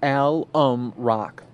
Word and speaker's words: Alum Rock: just reminding me that it is pronounced Alum Rock thank you I do